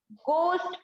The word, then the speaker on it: ghost: तो यहाँ पर जो एच है ये साइलेंट है, इसको क्या पढ़ेंगे, सिर्फ गोस्ट पढ़ेंगे, कभी भी इसको घो नहीं पढ़ेंगे, इसको हमेशा क्या पढ़ेंगे, गोस्ट पढ़ेंगे।